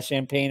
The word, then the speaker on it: champagne: It's only champagne if it was made in the Champagne region of France.